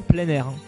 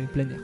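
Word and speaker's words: Pleinair: français plein air c'est ça se prononce vraiment comme le mot en plein air donc c'est pleinir voilà plein air qui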